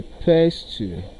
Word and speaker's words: pestle: Then option B is pronounced as a pestle, a pestle. The letter T is also silent.